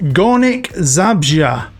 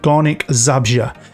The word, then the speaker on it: Górnik Zabrze: With Górnik Zabrze. Now, I've looked online at some pronunciations, and that's the one I keep hearing the most. Górnik Zabrze.